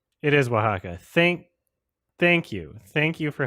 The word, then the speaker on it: Oaxaca: Is Osaka how I pronounce it? Anyway, this San Francisco World Spirits Competition 2017 bronze medal. Is it Osaka? Is that how I pronounce it? Can somebody please? I might have to look it up. Anyway, so Oaxaca? Is it really Oaxaca? Oh my God. I was thinking of Japan, probably, Osaka. Oaxaca.